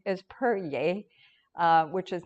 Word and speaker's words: Peryea: XI has that Xi sound, but it's pronounced, and my last name is Peryea, which is not Latin, it's French-Canadian from my husband's side.